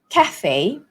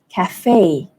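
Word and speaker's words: café: and so in British English it would be Cafe Cafe so the stress falls on CA but in American English the stress falls on the second syllable Cafe Cafe so let's do it again Cafe British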